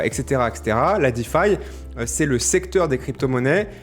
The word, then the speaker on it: DeFi: faire un focus sur la Defy la défi hein prononcé à la française la finance décentralisée qui